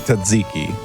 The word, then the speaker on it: tzatziki: as we all know that it's pronounced tzatziki, then we're good.